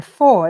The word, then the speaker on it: vor: And then vor is actually spelt like that, but you say it like an F.